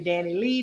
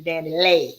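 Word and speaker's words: Dani Leigh: DaBaby and Dani, I don't know how to pronounce her name correctly because you hear some people say Dani Lee, and you hear some people say Dani Lay.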